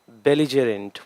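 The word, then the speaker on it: belligerent: Once again pronunciation, बेलिजेरेंट।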